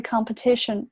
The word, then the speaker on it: competition: thu, 这个重音在这个地方这个 th 读作舌头伸出来 thu, enthusiasm, 这个是 z 的发音 asm, zm, 然后 about the competition, 注意下这个 competition 重音在这个地方，这个是一个弱读 competition。然后接下来 thousands 还是这个单词啊，th thou